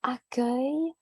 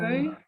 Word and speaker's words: accueil: juste trois petites choses accueil la prononciation accueil alors accueil oui accueil ok au numéro 6 oui euh un bon choix à la carte et un accueil oui le u e i l ça peut être compliqué parfois donc accueil